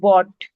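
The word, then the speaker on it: bought: Okay इसमें भी जी एच जो है वो साइलेंट है तो बोट बोलेंगे।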